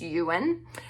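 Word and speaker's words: Iwan: His name is Ewan, but it's spelled I-W-A-N, but I'm pretty sure the pronunciation is Ewan.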